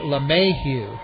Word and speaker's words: LeMahieu: Batting second and at second base is number 17, DJ LeMahieu. It's spelled capital L, little e, capital M-A-H-I-E-U.